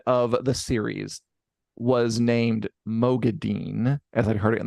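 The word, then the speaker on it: Moghedien: two finale yesterday and what lere says is madian she says it kind of madian yeah kind of like that so it it is kind of in the middle of all these pronunciations yeah so kind of like uh like Mo gay like G GE ghe is the way I've seen it like broken down madian so we'll hear a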